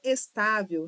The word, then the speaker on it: estável: é a mais forte, não é estável. Então tá é mais forte é a penúltima sílaba e não a última.